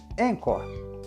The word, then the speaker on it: Anchor: aqui Vale lembrar que encor se escreve a n c h o r encor o jeito mais fácil